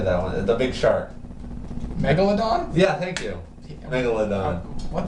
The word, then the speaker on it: Megalodon: from those two as much as I can Mega London l how do you say that one the big shark Megalodon yeah thank you Megalodon what the [ __